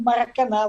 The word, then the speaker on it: Maracanã: Parabéns pela pronúncia do Maracanã como Maracanã. Você separou muito bem.